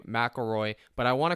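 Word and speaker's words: McIlroy: guy today and then Rory mcrory okay I know that's not how you say his name McElroy but I want to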